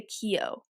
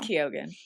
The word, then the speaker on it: Keoghan: I think well, I've heard it say like people say Keo. Because he's from like Ireland or something. So it's like pronounced I don't know. It's Keoghan. We'll say Keoghan, but don't come at